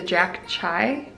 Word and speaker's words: Jack Chi: So he's a Jack Chai, I believe is how you say that.